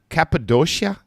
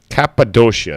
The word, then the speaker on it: Cappadocia: is a place called um oh oh oh Cappadocia I don't know if I pronounce it right I'm probably ruining the name